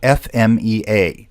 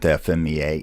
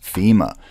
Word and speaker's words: FMEA: rule number one with FMEA it is not pronounced FEMA FEMA is the organization